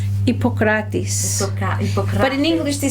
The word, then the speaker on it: Hippocrates: But in English they put an H, so they put Hippocrates, but it's really no H. Hippocrates.